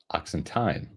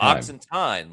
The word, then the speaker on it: Oxenteen: By the way, it's pronounced Oxenteen. Oh, Oxenteen, like time.